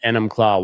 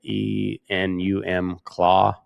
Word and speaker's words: Enumclaw: And Enumclaw, Washington, I'm not sure. I think that's how you say it. E N U M Claw. Enumclaw. Enumclaw.